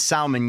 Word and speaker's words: salmon: all good Happy Days salmon yes salmon salmon you know I always mess that up I pronounce the L is it salmon Pepe Putin man what